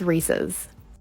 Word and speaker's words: Reese's: and neither are americans here's a comparison of both the packages in canada it's rhys and in the us it's reese's are you engaged i'm